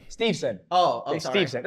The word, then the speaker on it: Steveson: Steveson or Stevenson? Steveson, I believe. Oh, I said it right. Steveson or Stevenson? Steveson.